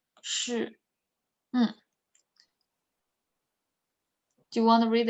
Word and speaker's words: 是: 是 is you can imagine share, but only put the first part. 是 like you have to roll your tongue, roll your R. 是.